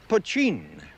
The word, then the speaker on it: poteen: Mountain Dew is another name for the stuff that's spelt poteen and pronounced pochine.